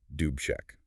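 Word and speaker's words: Alexander Dubček: The leader there was Alexander Duchek. That's pronounced roughly doobech.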